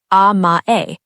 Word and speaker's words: amae: This brings us to the second concept, amae. Pronounced ah-mah-eh, written with the character that carries the meaning of sweetness, specifically the sweetness of depending on someone who you trust completely.